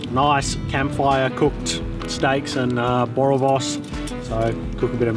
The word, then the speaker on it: boerewors: Boerewors.